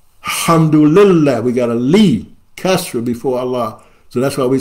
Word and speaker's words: Allah: A E I repeat whenever a e or CRA come before Allah the sound becomes flat on Allah another example we don't